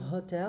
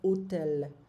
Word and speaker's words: hotel: Donc, en fait, le H n'est pas prononcé en italien. Donc, on va pas dire hotel, on va dire hôtel. Hôtel.